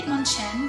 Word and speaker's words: Hitmonchan: I think I'm saying Hitmonchan because I think you say Chen like that in Chinese, and so now my brain is like that, but in Japanese it's Chan.